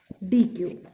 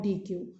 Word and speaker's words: deque: पढ़ना है, that is डी क्यू। Okay, अब हमको पढ़ना है डी क्यू। डी क्यू क्या होता है? डी क्यू is pronounced either डेक और डी क्यू।